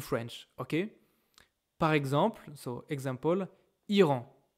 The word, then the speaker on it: Iran: Par exemple, example, Iran. Iran is Iran. I think in English is Iran, okay?